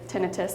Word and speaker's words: tinnitus: But the vertigo, the nausea, the sensory loss, the hearing loss, the tinnitus or tinnitus, everyone pronounces it differently, epilepsy, changes in sexual